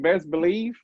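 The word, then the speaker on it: Bezz Believe: another dude muscle-bound dude i think he pronounced his name best believe but it's b-e-z-z believe dude could be a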